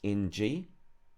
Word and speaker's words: ng: In the example of the Māori language, this is NG, pronounced as it sounds in the English word singer. If you imagine in your mind saying the S and the ER, but out loudly say the middle portion. So when you say it, you drop the S and the ER, and that is ng.